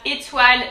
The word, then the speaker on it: étoile: So first, the first E, you can see there's an accent. It's on accent aigu. And so it's pronounced E, we've already seen that. E, the T normal. O-I in French is wa. Étoile, étoile, étoile.